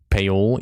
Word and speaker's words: Paul: Paul is pronounced Paol. Yeah. This is what you guys are trying to tell me. It's not Paul, it's Paol.